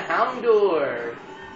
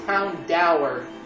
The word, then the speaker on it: Houndour: Actually, now that I think about it, its pronunciation's Houndour. I've always called it Houndour when I first saw it when I played Gold and Old and Soul Silver.